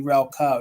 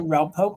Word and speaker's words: Relpo: I'm saying it right I didn't want it to be Rel Co now it's relo so you can see it is embossed there on the bottom it is a relpo planter $18 if anyone's